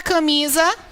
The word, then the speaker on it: camisa: Mas a palavra camisa, qual a sílaba tônica da palavra camisa? Camisa. Nome?